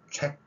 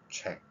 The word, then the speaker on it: check: 예를 들면 check 그러는 게 아니라 check, 끝에 약간의 호흡이 존재한다는 것이 바로 이제 우리말 표기와 영어 발음 표기의 차이점입니다.